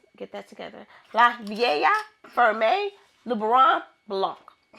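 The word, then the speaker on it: La Vieille Ferme: You don't pronounce the L's. Get that together. La Vaa Ferme Lubberon Blanc of 2024.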